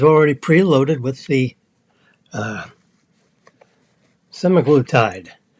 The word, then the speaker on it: semaglutide: the pen is already pre-loaded with the uh semaglutide s n a glutide that's how you pronounce that it's a semi glutide injection there are other glut Tides uh you've